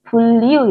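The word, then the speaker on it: 분류: youong of artinya pendistribusian beliu Hatta ini bacanya bulyu Ya bulyu Hatta artinya mengelompokkan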